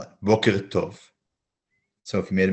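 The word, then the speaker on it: בוקר טוב: Notice that the k in boker is a kuf and not a kaf. And the t in tov is a tet, not a taf.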